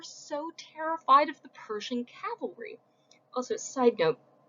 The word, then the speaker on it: cavalry: Also, side note, frequently mispronounced word, cavalry is when people on horses are fighting you. Calvary is the hill on which Jesus was crucified. So, Calvary Baptist Church, cavalry charge.